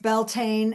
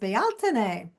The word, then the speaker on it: Bealtaine: And it looks like it's pronounced Beltane, and I believe it's pronounced Bealtaine.